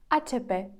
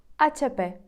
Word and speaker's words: HP: думаєте буде іспанською правильно іспанці скажуть а ЧП ацп HP Ну і останній бренд